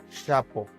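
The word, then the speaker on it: xapo: Pero ahora en náhuatl, cuando encontremos una X en cualquier palabra, va a sonar como SH, como un sh. Ejemplos: xonacatl, xonacatl. Cebolla, xali, xali. Arena, chapo, chapo.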